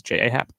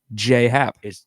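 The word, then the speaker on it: J. A. Happ: But that's probably not going to happen because he's J.A. Hap. Or I'm sorry, J. Hap. That's how you pronounce Yeah, it.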